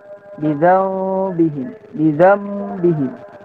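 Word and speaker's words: بذنبهم: Wasalisul iqlabu 'indal ba'i, itu iqlab, nun mati bertemu ba, maka cara membacanya miman yang pertama, mengganti huruf nun menjadi suara mim. Bidzambihim, miman wa gunnatin.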